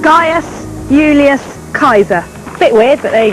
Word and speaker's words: Gaius Julius Caesar: And in fact, the way you pronounce his name is this: Gaius Julius Caesar.